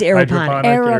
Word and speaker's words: aeroponic: can picture it versus, I always say it wrong, It's aeroponic. aeroponic farms.